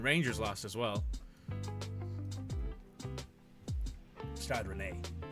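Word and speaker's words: Rennes: lost as well start Renee not Rens someone will kill me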